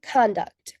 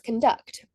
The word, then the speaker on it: conduct: con, the word becomes conduct, which is a noun. If the primary word stress is placed on the secondary syllable duct, the word becomes conduct, which is a verb.